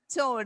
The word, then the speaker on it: chord: Of a circle, chord. Yeah, if it is CH, so don't pronounce it as chord.